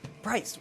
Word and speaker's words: Preis: Preis. Yeah. Why do I think I always say that. It's spelt a little wrong, but it's Preis. It's Preis.